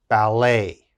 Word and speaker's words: ballet: d e t now in french when we're speaking french e t has an a sound a so let's look at the first word now we would pronounce this bal a ballet ballet and of course